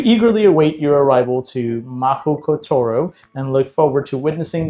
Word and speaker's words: Mahoutokoro: It's a little hard to pronounce. What is that word? Someone told you that's where we went to school. It's Mahoutokoro.